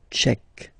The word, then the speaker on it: tchèque: So remember, QUE, k, tchèque.